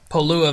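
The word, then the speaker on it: Pololū: so this is the pole ooh a valley it's spelled like polo like the like the Cologne and then Lua lü at the end so this valley is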